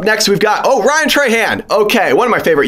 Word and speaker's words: Trahan: Ryan Tarad. The announcer. You got his name wrong. Ryan Trahan, okay.